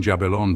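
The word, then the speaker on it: Jabulon: syllable alternately and admitting jabalon to be the word one would say ja another bell and the third on and then interchangeably until each had pronounced the whole compound.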